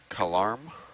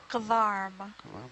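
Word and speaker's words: kedarm: in palan is garm Karm Karm so k e d a r m card the K is kind of like a g sound a little bit but it's still K Karm what depth range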